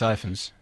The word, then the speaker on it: Rhys Ifans: There's Evans, and I apologise if I've said Evans in the pub, which is how I've said always... Rhys Ifans.